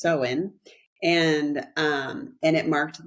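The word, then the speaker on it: Samhain: called SE definitely spelled soman but it is pronounced seen and um and it marked the end of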